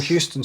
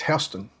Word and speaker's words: Houston: Or Houston Street in New York. It's Hston.